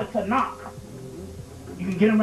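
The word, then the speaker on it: Tanakh: being and they got a book called it to knock you get them right there in Barnes and Nobles and borders but to knock it's it's pronounced t-a-k a-n-e to knock just put your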